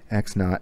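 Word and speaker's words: x₀: final variable and which one is the initial x naught x zero that's the initial that's the starting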